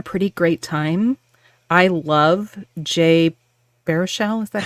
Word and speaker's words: Jay Baruchel: I love Jay Baruchel.